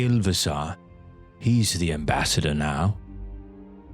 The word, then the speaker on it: Ilvasar: Make sure you say Ilvasar. He's the ambassador now. Oh. What's his name? How do you spell that name?